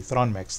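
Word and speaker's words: Thronmax: I'm saying it correctly thrawn Max there's no e in it there's not Throne Max thrawn Max but um it is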